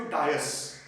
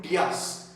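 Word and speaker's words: Dias: उसमें बार्थेलोम्यू डायस या बार्थेलोम्यू डियास, एक हमारे पोर्तुगीज दोस्त है, वो बोलते हैं कि ये प्रोनाउंसिएशन डायस नहीं है, डियास करके बोलते हैं।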